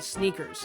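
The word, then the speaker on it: SNKRS: are limited drops on this nike app called sneakers it's spelled s n k rs that's right and there's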